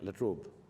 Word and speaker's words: La Trobe: I'm deeply grateful to the university, the La Trobe, do I pronounce it right? La Trobe.